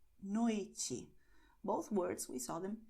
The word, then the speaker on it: noite: And another general principle for Brazilian Portuguese is that the letter E at the end of the word is pronounced as I. So you're going to say tarde, noite.